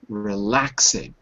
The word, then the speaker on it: relaxing: Relaxing. 3 syllables. Relaxing. The stress is on the second syllable.